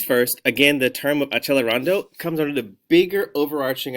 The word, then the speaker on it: accelerando: Tucker, CC does not say ch, it's like k. No. All of our music words or terms rather are in the language of Italian. So we must make sure that we pronounce them the correct way.